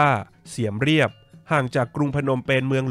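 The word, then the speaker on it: เสียมเรียบ: หิน นครวัด อยู่ ที่ เมือง เสียม ราช หรือ ชื่อ ท้อง ถิ่น ออก เสียง ว่า เสียม เรียบ ห่าง จาก กรุง พนมเปญ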